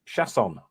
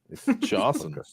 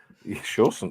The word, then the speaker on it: Chausson: Chausson. Chausson. Yeah, something like that. Chausson. And you don't pronounce the N.